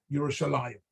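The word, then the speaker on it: ירושלים: But actually, in the Torah, when we get to Yerushalayim, it's spelled Yerushalem, right? It's pronounced Yerushalayim always.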